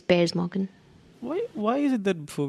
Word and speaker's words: Piers Morgan: It's Piers Morgan. I've done it too. It's Piers Morgan. Let's find out now. No. You haven't done it, have you? I have. How to pronounce Piers Morgan?